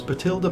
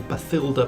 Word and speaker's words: Bathilda: It was Bathilda Bagshot. Or Bathilda Bagshot, depending on whether you want to pronounce the th or not. In the audiobooks, Stephen Fry pronounces it Bathilda because that's how you're supposed to pronounce the name.